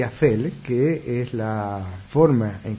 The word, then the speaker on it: Aphel: ¿Qué es Bel y Afel? Les escribo, Bel se escribe con B corta y Afel con PH, se pronuncia como F, y son palabras de un idioma muy antiguo que simbolizan esos dos caminos.